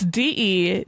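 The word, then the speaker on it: de Janzé: So for today's Rich Women of Crime, I present to you Alice Silverthorne de Jonze, which I am pretty sure I am not pronouncing correctly. De Jonze? It's Dejanze accent aigu.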